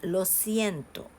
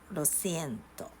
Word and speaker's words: lo siento: uh be said like lo siento lo siento lo siento and this can be pronounced as si not she so you could pronounce